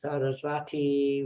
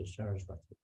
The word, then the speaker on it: Sarasvati: even Prabhupada's pranams, Namaste Sarasvati. We hear it so many times. It's not Sarasvati. It's not the goddess of learning. It's Sarasvati. Different. Srila Bhakti Siddhanta Sarasvati. It refers to him.